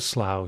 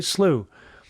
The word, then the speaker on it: slough: that red word slough which rhymes with plough or plowman in american is a slew so he doesn't fall into a slow he falls into a slew and there you go